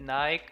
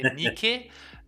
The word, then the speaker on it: Nike: So the Greeks say Nike. It's Nike. Nike, yeah, I know it as Nike. At least everyone in Germany says Nike. We do a lot of English pronouncing wrong, but I feel good at this one.